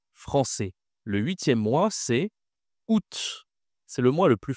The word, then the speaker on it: août: Le 8e mois, c'est août. C'est le mois le plus facile à prononcer de l'année. Oû ce n'est pas à août. Non, c'est juste la leçon où hein. Ooût août.